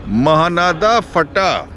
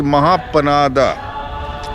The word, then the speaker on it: Mahanada Phata: Exactly west of Godana is Mahanada Phata. Now Mahanada Phata has been mispronounced as Mahapanada.